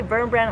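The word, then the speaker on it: Wurmbrand: Richard verm brand and I say ver brand I think that's how you pronounce it because in Europe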